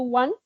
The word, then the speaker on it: Van: in the city of one it's like you can pronounce it like number one 1 or quake 1